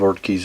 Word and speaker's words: Ortgies: production model of the or or keys if I'm pronouncing that right I'm not even in front of certain on that but I believe art keys is the correct way of pronouncing it these guns were built